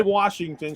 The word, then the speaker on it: Washington: she don't say Washington. She says Washington. I'm like, Yeah. there's no R in Washington.